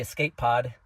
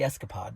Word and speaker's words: Escapod: also uh I know I thought it was called The Escape pod it's called the escapod that's that's how you say it the escapod um but